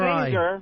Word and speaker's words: finger: I'll put my finger right in your finger eye. With a hard G. Your G is soft. Finger, like a telephone ringer. Finger. Like ringer, finger.